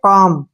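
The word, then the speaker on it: calm: क्या आया है एल तो हमने एल को नहीं पढ़ना है इसको बोलेंगे हम सी ए एल एम क्या पढ़ेंगे काम सी ए से बना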